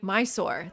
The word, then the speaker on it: Mysore: If you're British, you say my soul.